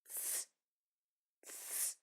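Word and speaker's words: ц: Imagine letters T and S coming together. T and S. Now try to pronounce them one after another at a rapid pace. Ts, ts. That is exactly the sound that we are looking for.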